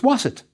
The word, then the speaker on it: Waset: you pronounce the word we have our waster but with a T at the end so it's waset but we also have a town determinative the crossroads so it's a city called waset that was the ancient